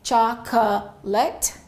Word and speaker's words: chocolate: very similar sounding but probably in your language you pronounce every vowel sound so it may sound something like this chocol or in French cha and in some languages it's ch people are pronouncing every vowel English Works differently sometimes there are some words where the vowel completely disappears so in English this word has only two syllables so we don't say